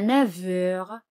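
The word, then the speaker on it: neuf heures: A 9 heures. Fijaos aquí, la letra F se pronuncia como V.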